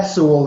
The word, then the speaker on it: Sewell: And is it Sewell that is that how you pronounce? Yeah, Sewell, yes.